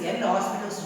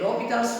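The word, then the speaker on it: L'Hôpital: Most probably you are pronouncing this as L'Hospital's rule. Isn't it? L'Hospital's rule. Many of the students are pronouncing this as L'Hospital's rule. But actually here H and S are silent.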